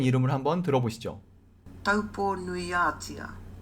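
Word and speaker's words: Taupō-nui-a-Tia: 여기서 다시 한번 아까 그 마오리 아주머니의 발음으로 타우포의 제대로 된 이름을 한번 들어보시죠. Taupo nuiatia. Taupo nuiatia.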